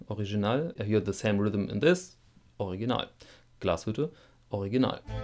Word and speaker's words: Glashütte: and sons ltd dornblüth und sohn jetzt noch glashütte original express video glashütte ist not always the german brands values klassische